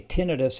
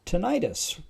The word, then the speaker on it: tinnitus: And we'll start with why do I say tinidis and not tonitis. Well, most professionals say tinidis and most of the lay public says tonitis. That's just the way it is. And it really doesn't matter how you pronounce it. Either one is totally acceptable.